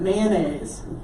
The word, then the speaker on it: mayonnaise: that we pronounce it isn't mayonnaise two syllables instead of what manganese